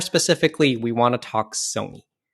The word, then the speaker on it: Sony: Well, more specifically, we want to talk Sony. Rhymes with bony.